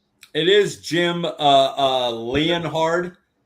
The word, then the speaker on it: Leonhard: It is Jim uh uh Leonhard. Leard. The way it's spelled is wild.